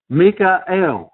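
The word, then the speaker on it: מיכאל: the Archangel here and his name is pronounced in the Hebrew Mikel I'm trying to learn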